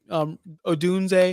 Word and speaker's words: Odunze: And you're talking DJ Moore, Keenan Allen, his Odunze. Is that how you say his name, Justin? Yep. See, I know how to pronounce names.